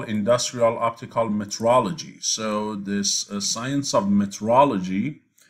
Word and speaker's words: metrology: That is not exactly written this way and not pronounced this way, right? So it has an extra E and O. Meteorology, and that's the science of weather. This is metrology.